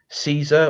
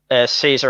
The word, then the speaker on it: Caesar: Yeah, I, I actually heard, wasn't it that the true pronunciation, wasn't it, originally Kaiser? yeah, because Caesar I think comes from more modern Latin or modern Italian, and they didn't have a pronunciation for C as in Caesar. It was more K. Yes, Every C was a hard K or hard yes, C.